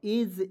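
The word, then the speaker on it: edge: ई तो यहां पे डी को साइलेंट कीजिएगा। ई को ए लिख दीजिएगा। जी ई को लिखेंगे ज एज एज मींस होता है दोस्तों किनारा।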